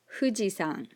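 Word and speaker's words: 富士山: is famous japanese icon fujisan notice that i didn't say fujisan i didn't say an f it's more like an h u sound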